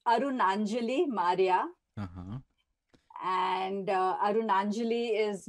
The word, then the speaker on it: Arunanjali: So even Indians find it difficult to pronounce it. So here it is Arunanjali.